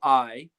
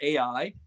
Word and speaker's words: Ai: Jericho a city called I some people call it Ai and I did as well but it I'm told by the scholars and the archaeologists it's pronounced I I take the word